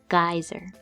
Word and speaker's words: geyser: with a g e at the beginning we pronounce it like this guy and then Zur geyser so when you're making your sentence this might